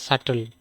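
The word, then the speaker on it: subtle: এস ইউবি টিএল ই সাটল be silent সাটেল মানে কি সাটেল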